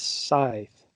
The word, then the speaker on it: scythe: and apparently mike gel the correct way to pronounce that weapon is scythe sign okay here you're